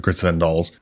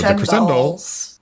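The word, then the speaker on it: Crescendolls: to calling them the Cresend Dolls. I think it's supposed to be Crescendo Dolls, like Crescendo.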